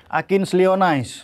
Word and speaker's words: Akins Lee Onais: Bacanya gimana tuh? Akins Lee Onais. Oh, Akin Lee Onais, tapi Lee-nya tuh disambung atau dipisah? Dipisah.